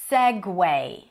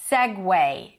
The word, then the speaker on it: segue: This one is pronounced as segue. Segue, not seg, and not segue, but segue. I don't know why there is a U there. Where is the W in the spelling? I don't know, but this is how you say it.